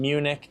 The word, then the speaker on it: München: München seems like that's how they pronounce it, and Munich is how we pronounce it in English.